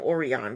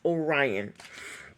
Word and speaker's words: Orion: Oran or or Orion I want to call him oron but he's it's pronounced Orion I haven't even met